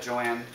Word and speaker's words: Joanne: was another problem that Joanne two syllables Joanne Joanna three syllables that that cost extra